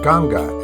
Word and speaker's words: Ganga: from the ashram to Ganges for Ganga as it is pronounced in India there was a short